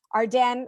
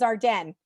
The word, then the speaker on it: Arden: go shopping anymore, but Arden or Ardeen, depending how you pronounce it, but it is Arden.